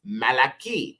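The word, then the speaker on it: מַלְאָכִי: of the prophets is Malachi okay but it would be Malaki so you see that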